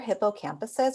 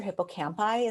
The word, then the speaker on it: hippocampi: For example, veterans who have PTSD had smaller hippocampuses, or hippocampi is the correct way to say that, than those of a